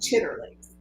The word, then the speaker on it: chitterlings: For example, you mentioned chitterlings. Okay, and I know they're pronounced chitlins, but chitlins are, literally they're intestines.